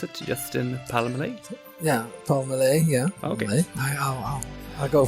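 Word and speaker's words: Pelmelay: Do you pronounce it Justin Palmelay? Yeah, Palmelay, yeah.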